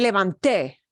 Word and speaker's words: levanté: Es muy importante aquí. Me levanté. Te. Tenemos que dar énfasis en la sílaba te al fin.